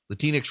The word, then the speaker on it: Latinx: the latino community uses latinx rhymes with kleenex and it says disposable